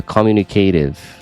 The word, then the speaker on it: communicative: Eles traduzem aqui na fonética por um Dzinho. Aí vira communicative.